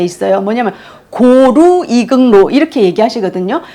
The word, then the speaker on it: 고루: 그러면서 중국어로 긍로를 로마자로 표기하면 고루로 발음을 했다고 합니다.